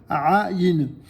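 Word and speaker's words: עין: Donc, répétez Aïn. Comme le rédacteur, notre ami Yosef Azoulay, vous le fait remarquer ici, cette lettre s'appelle Aïn, mais ce son n'existe pas en français.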